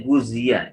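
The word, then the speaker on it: غُذِيَ: Ya, wa ghuziya itu dibacanya guzia, ya.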